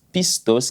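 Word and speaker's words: πιστός: » Le mot fidèle ici, c'est un mot grec que l'on prononce pistos, qui veut simplement dire loyal ou encore digne de confiance.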